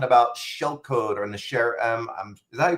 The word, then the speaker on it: SHAREM: Uh, this particular session we're going to be talking about shell code or the sherm is that you pronounce it? Sharum.